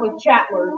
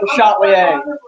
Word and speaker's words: Le Chatelier: Le Chatelier. He's not Le Chatler, even though next week y'all are all going to say, oh, that's not Le Chatler. He's pronounced Le Chatelier.